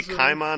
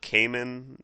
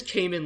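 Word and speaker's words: Caiman: So it is supposed to be Kaimon, not Cayman, like the animal? Well, it's a weird thing because it is Cayman like the animal, but in the anime they pronounce it Kaimon. Okay. Like you hear them verbally say it out loud, it's Kaimon, so it's...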